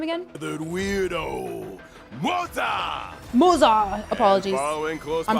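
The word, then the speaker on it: Moze: The weirdo, Moza. Moza! Apologies. Following close I'm pronouncing it behind him Rose, is like the Rose.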